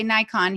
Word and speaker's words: Nikon: teaching as well through Nick on a lot of people will say Nikon here in the US that's kind of how we say it but I believe correct actual accurate pronunciation is Nick on and so you you